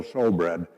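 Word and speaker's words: shewbread: It's spelled S H E W, but it's still showbread.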